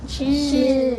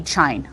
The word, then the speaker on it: chin: Because how come it can't be chine? We know It's not a long syllable. it's not. Yeah, it's not a syllable that has a long sound. Not open. It's not open, and it also doesn't have a Silent E. right, no silent E.